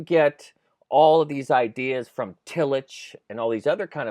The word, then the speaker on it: Tillich: illage right is that how you say it Tillich yeah Tillich yeah Tillich and did he have